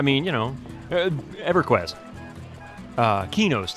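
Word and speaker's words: Qeynos: you know EverQuest uh kenos the city of kenos in in EverQuest is actually q e y n o s if you spell it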